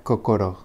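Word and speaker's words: 心: Y el segundo kanji, si estuviera solo, se leería kokoro.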